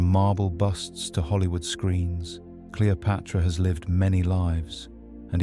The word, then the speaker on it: Cleopatra: Originally pronounced Cleopatra, the name is a fusion of 2 powerful words, kleos, meaning glory, and pater, meaning father.